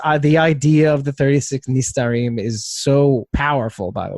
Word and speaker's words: Nistarim: What he says is Nitzarim, but he pronounced it wrong. Oh no, that's so disappointing. It's the 36 Nistarim.